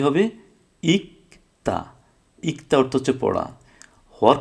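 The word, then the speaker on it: 읽다: ছিল না, তাহলে হয়তো এলদা। কিন্তু ওটা না হয়ে আমরা জানি যে রিউল আর গিয়ক থাকলে রিউলের উচ্চারণটা বাদ যাবে, তাহলে হবে কি, ইকতা, ইকতা অর্থ হচ্ছে পড়া।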